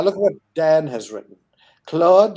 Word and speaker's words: Claude: Claude rhymes with fraud, and we can know that to be true.